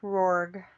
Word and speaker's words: RORGG: It's at Rorg. Let me verify the Twitter handle for him. Poor thing. Let's see. Following. RORGG. RORGG, Yep. which is pronounced RORG.